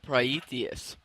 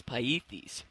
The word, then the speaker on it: Pythes: Well, I called it Praetheus at first, and it's Pythes, named after a Greek explorer, which makes the game make a whole lot more sense.